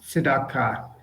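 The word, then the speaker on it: צדקה: Well pronounced, tzedakah. And this is an example, by the way, and pronounced correctly, of the shva being vocalized. And the reason the shva is vocalized is because it's under the first letter of the word.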